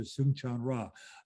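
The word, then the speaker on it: Soong-Chan Rah: anyway, and that is Professor Soong-Chan Ra. Did I pronounce that correctly? Soong-Chan really Ra? really good for a non-Korean.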